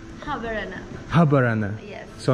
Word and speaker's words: Habarana: How do you say Habarana? Habarana. Habarana.